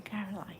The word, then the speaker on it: Caroline: I love that name, Caroline. Rhymes with pine.